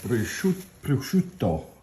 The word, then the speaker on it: prosciutto: Okay, now we're going to put a layer of prosciutto. I'm going to say it like an Italian. Prosciutto.